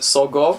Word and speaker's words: Sogo: well, you know why I pronounced it Sogo? Why is that? Because it's a combination of Sodom and Gomorrah.